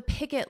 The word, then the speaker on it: picket: Now, the picket line. Notice for pronunciation, it's picket. Pick it, and then say it combined. Pick it, picket, picket, picket line.